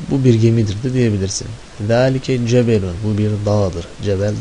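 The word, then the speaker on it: ذلك: Zalike en başındaki da'dan sonra aslında met harfi görünemiyor ama uzatıyorsun. Hayırdır? Gizli elif harfi. Zalike.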